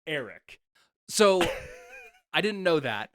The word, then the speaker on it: Airk: Eric's name is spelled AIRK. They literally say it Eric.